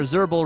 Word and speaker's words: Zerbal: He's here, Zerbal, remember, as always, rhymes with gerbil.